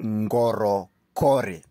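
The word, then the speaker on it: Ngorokori: special Place known as Goro Cori that's n g o r o k o r i Goro cor that's the pronunciation so this place is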